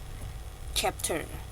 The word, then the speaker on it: chapter: testing May have Changed chapter bukan cap Iya kita bacanya tetap CH Oke chapter alright Waduh udah